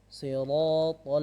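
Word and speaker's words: صراط: Siratal ladzina an'amta 'alaihim. Baik. Pertama sirat. Jangan sampai si atau shi.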